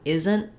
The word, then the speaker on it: isn't: with isn't isn't that isn't that um but isn't isn't tends to use a stop t and a very short end so i'm going to